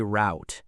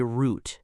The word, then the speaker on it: route: Americans usually say route, like out. British people often say route, like boot.